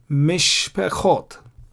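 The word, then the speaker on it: משפחות: See, I don't pronounce the Shwa here. Mizbechot, I pronounce this Shwa, the blue one. I don't pronounce the red one. Mizbechot, Mishpechot. Mizbechot is altars and Mishpechot is families. Why do I pronounce the blue one? Because before the blue one comes the red one. When there are two shwas, one after the other, you don't pronounce the first, you pronounce the second.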